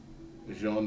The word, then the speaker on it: Jean: clear looks at uh Jean Von Bellamy oh you said it right like what you said it right yes well it's not Joan even though it's spelled like Joan um is the French spelling of it Jan Von